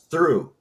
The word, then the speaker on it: through: well you take you take the word rough r o u g h now put a th on the front of it is it truff no now it's through what exactly why I